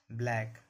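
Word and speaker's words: black: जब सी के बाद के या क्यू लगा हो। जब भी सी के बाद के या क्यू लगा रहेगा तो सी का उच्चारण नहीं करना।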